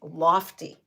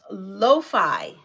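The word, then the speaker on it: lo-fi: they're like can you put on Animal Crossings lofty I'm like what the heck is lofty okay so that's the question what is oh and it's not called lofty see I pronounced it lofty pronounce Loi Loi hip hop so what is Loi hip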